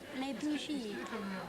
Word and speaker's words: les bougies: Pronounced les bougies.